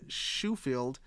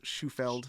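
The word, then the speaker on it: Shoefield: and business partner Gary shufield uh I think it's shufeld Sheffield no it's spelled like shoe for the f-e-l-d at the end shuffled anyway way they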